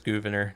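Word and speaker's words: Gouverneur: It's Governor. That's how it's pronounced.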